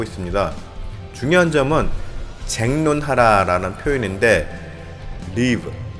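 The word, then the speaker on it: ריב: 중요한 점은 재론하는 표현인데 리브 리브라는 어 발음인데 싸우다 다투다의 뜻이 있습니다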